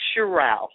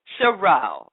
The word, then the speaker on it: Sheriow: It's pronounced Sheriow. Sheriow. Okay, Sheriow.